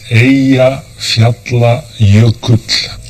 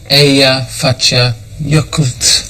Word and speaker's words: Eyjafjallajökull: How do you pronounce its name? It's Eyjafjallajökull. Eyjafjallajökull.